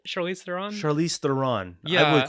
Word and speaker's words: Charlize Theron: That's how you pronounce her name, right? Charlize Theron? Charlize Theron.